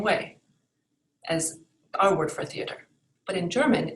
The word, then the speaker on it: Theater: as our word for theater. But in German, it's pronounced Theater. Theater. So you can clearly hear the different letters and the syllables in that word.